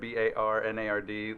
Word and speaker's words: Barnard: And that's Barnard, Bernard. You're a partner at the firm. Actually, Barnard, Barnard, like barnyard, but with no Y in it.